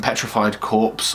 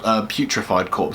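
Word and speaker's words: Putrefied Corpse: that one also um petrified corpse or putrified corpse is actually how it's How It's pronounced but yeah that's another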